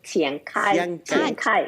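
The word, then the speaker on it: 钱凯: Chancay es Chiancay en chino. Chiancay, porque no se pronuncia igual.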